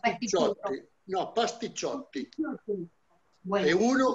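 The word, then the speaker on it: pasticciotto: No, pastichotti. Bueno. Uno es pastichotto. Sí. Termina con O, es pastichotto. Si son varios, son pastichotti. Ah, ok.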